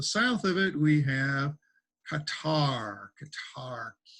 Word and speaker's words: Qatar: of it we have qatar qatar you may hear it pronounced cutter you hear it both ways guitar or cutter okay so these are